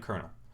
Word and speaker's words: colonel: there's no t there sorry lieutenant colonel lieutenant kernel which is abbreviated l